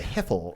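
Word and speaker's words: Hiphil: all sorts of the hipple uh you got to say it like that the hipple I did I know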